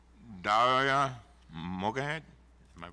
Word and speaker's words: Mogahed: Mogahed, am I pronouncing it right?